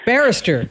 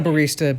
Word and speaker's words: barrister: A barista, like someone who makes coffee? No, it's how you say lawyer in Great Britain. I forget. Barrister? Barrister, yes. Not a barista, barrister.